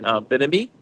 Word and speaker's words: Bimini: Um the excursions I did two excursions, one in uh um in behind the Bahamas, uh which is Bimini.